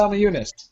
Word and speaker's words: Namajunas: Namajunas.